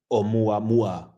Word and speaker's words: Oumuamua: Oumuamua, I think. Oh, Oumuamua, obviously.